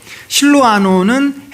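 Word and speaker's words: 실루아노: 명확하게 합니다 바울과 실로암호 실로암호는 신라죠 실로암호는 헬라식 발음이고 신라는 이제 유대식 히브리식 발음입니다 바울과 실로 아노와 디모데는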